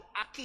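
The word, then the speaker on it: אחי: Itu kalau ini ACHI, Aki dibaca bukan Aci, saudara ya, Aki.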